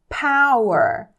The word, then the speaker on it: Power: como força tá e repare que a pronúncia dessa palavra aqui ó a letra P no inglês é aspirada a muitas vezes a maioria das vezes aí ela vai ser aspirada o que que é assim aspirado você vai soltar um arzinho de leve assim para poder pronunciar no corretamente por isso ficou Power e não Power tá é claro gente